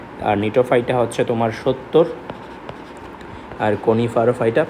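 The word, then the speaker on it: Gnetophyta: বুঝছো জেনো জেনোতে হচ্ছে জিনেটোফাইটা আসলে এটার উচ্চারণ কিন্তু নিটোফাইটা বুঝছো সামনে জিগাসে বললে আমি উচ্চারণ করলাম জিনেটোফাইটা কিন্তু মেইন উচ্চারণ হচ্ছে নিটোফাইটা আর হচ্ছে সার্কাস সার্কাসটা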